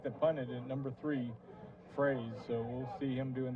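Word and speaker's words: Froese: it like phra SE like a phrase and emotions dalrymple look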